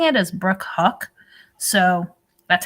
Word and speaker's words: Houck: i say the last name marty it's brooks hawk huck it's pronounced huck that's hard for me to say i know